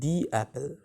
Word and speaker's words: the: হবে দা কার ঠিক আছে আর এটা হচ্ছে দি অ্যাপেল ঠিক আছে তাহলে ওটা হচ্ছে কি প্রথমটা দ